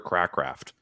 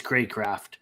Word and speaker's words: Craycraft: I mean, River Crackraft. Who knew? I didn't. I looked. It could be pronounced like Craft. It is Craycraft.